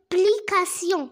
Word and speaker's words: explication: Alors, T-I-O-N se prononce sion. Sion. A, quand on met A devant C, C se prononce comme K. E se prononce comme E. Pourquoi? Parce qu'il y a devant E la lettre X.